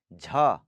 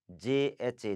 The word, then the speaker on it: झ: Okay, सो उसके बाद है झ, JHA, झ, झ, झ.